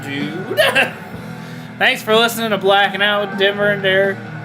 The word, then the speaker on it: Blackin': No G on Blackin', just Blackin'. Blackin'. There ain't no G. I ain't pronouncing it, so you Yeah. shouldn't be typing it.